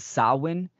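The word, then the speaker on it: Samhain: understand is the is the Celtic Festival of saan um s h a i n pronounced sawin um this is a a Gaelic tradition right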